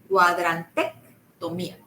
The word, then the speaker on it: cuadrantectomía: Si ves que dices cuadrante, ahora le pones una C de casa, tomía. Cuadrantectomía.